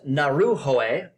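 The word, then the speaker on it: Ngauruhoe: In 1998, 8 samples were taken from 3 different past lava flows from Mount Naruhoe in New Zealand. I know that is the correct pronunciation because I looked it up.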